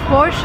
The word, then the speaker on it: Porsche: the car is called forche and that's the right way to pronounce it because it's a German name the stress goes to the first part of the word and we say forche remember Never Say Never